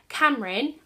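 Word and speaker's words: Camryn: York Times bestseller 20-year-old Cameron I think that's how you say her name it's spelled c a m r y n has already know has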